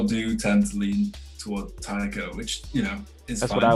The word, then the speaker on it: Taiko: Oh, it's Taiko. Taiko. Like it is Taiko, but like you can. There's like two different pronunciations for it, so you can either say Taiko or Taiko.